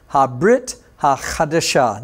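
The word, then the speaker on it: הברית החדשה: Remember, Bivrit in Hebrew, New Testament is pronounced Habrit HaChadashah. That's where we're going to be today, Habrit HaChadashah.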